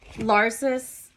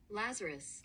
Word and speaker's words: Lazarus: Uh, this is uh Larsus and uh raised from the dead. I'm going to actually look up the pronunciation of this name because I don't want to mispronounce it. Lazarus.